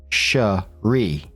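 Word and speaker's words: Cherié: One thing I would like to point out, girlfriend's name is spelled Sheree, C H E R I E with a little accent over the last e and pronounced shri, whereas our girl is plain old Sherry, like berry.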